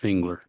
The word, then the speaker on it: Fingler: Delila Lopez and am I gonna say your name wrong fingler correct fingler yes so given